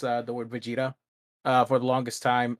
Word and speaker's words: Vegeta: mispronounce uh the word vegeta uh for the longest time i pronounce it as uh begetta because um that's how they say it in the spanish dub i i should i